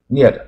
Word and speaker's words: knit: 你知道使用菜刀，当菜刀，菜刀很多种啊。Knit 啊，这 K 就不发音，就是编